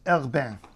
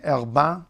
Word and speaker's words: Herbin: Auguste Herbin. By the way, some people would say Herbin, some people would say Herbin. This is depending on what part of France your pronunciation is from. It does vary.